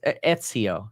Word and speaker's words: Ezio: Yeah, people are saying Ezio. Oh, Ezio. I think that's how you pronounce it. It's Ezio.